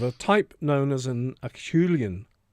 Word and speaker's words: Acheulean: It's of a type known as an Acheulean. How would you pronounce that? Acheulean, yes.